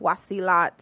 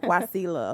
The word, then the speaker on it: Wasila: is wasila and it was actually supposed to be pronounced washi lot but my mama felt like that was just too much so she was like guacilla okay i love it